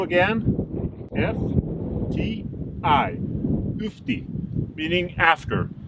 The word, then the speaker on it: ufti: And then it reads U again, F-T-I, Ufti, meaning after. It's spelled differently than that after, but it says Ufti, after.